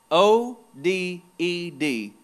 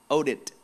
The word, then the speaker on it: Oded: bible his name is oded o d e d some pronounce it oded owed it like a t oded he appears out